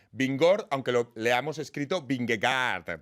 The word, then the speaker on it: Vingegaard: Atención, porque esto me lo han enseñado a pronunciar. Vingegaard, aunque lo leamos escrito Vingegaard, para que nadie se confunda.